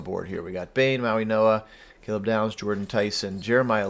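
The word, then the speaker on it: Mauigoa: No, Maui Noah, I believe, is how it's pronounced.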